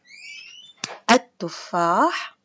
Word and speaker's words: التفاح: التفاح التفاح الربيع الثوب. إذن اللام الشمسية تكتب ولكن لا تلفظ، ونضع بعدها شدة مثل كلمات التفاح التفاح الربيع الثوب.